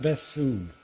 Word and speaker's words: Bethune: Oh, How do you pronounce his Bashun. English name? Bashun? Bethune.